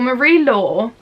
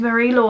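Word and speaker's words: Marie-Laure: For Marie Law, I believe that's how you pronounce it.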